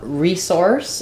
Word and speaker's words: resource: a verb um so typically with words that are nouns and verbs if there's two different pronunciations the noun is going to be stressed on the first syllable so we have a resource for that um reource that would sound like re source um again you could